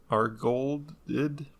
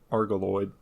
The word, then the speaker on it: Argolid: So anyway, he lived in this Lerna lake in Argoloid. I pronounced that wrong again.